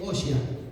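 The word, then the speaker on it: הושע: En hebreo es Oshia, ¿sí? Es el nombre original. Se dice así, se escribe, no es muy difícil, pero bueno, no es detalle tan importante.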